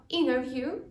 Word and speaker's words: interview: І також варто звернути увагу на умову слова interview, так, тому що в американській англійській це T не вимовляється.